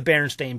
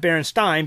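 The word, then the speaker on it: Berenstain: n and it's not it's spelled Baron stain Baron not Baron Stein Baron stain s a i n and not and not EI i n so people have gotten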